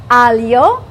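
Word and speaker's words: aglio: in this dish and how do you say it in Italiano I'm going to teach you how to say it Alo then we have olives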